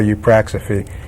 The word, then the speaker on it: Eupraxophy: the way around right you practice it you practice a fee EU PR ax o